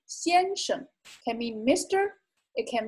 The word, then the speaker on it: 先生: 先生, 先生. And note that this is also a neutral tone, so it's pronounced quietly. 先生 can mean Mr.